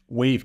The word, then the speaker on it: Wayve: just generally our our wave Capital um we spell it w a yve and wave it's it's symbolic you